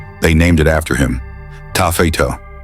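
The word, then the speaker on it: taaffeite: Tafetto, pronounced tarfite.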